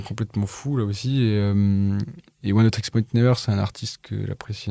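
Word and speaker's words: Oneohtrix Point Never: a été faite par Oneotrix Point Never. Ouais, c'est une bonne prononciation. Moi, je le dis Oneotrix Point Never, ou on peut l'appeler OPN pour les familiers.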